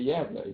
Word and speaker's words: Gävle: So when you get around Sweden here, you get up to where it says Värtan, Södertälje, Gävle, even if you wouldn't pronounce it like that, so that's how you pronounce it in Swedish.